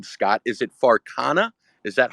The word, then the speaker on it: Farcana: want to but the name Scott is it farana is that how we pronounce that yeah yeah yeah okay okay cool